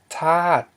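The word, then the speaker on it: ທາດ: Okay, so here's tat, and this one's tat. Okay, which means element. Here we have the low consonant t, followed by a long vowel a, and ending in a dead syllable d, which equals a falling tone.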